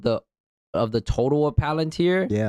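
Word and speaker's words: Palantir: Oh Peter Tio is selling his his his Palunteer shares.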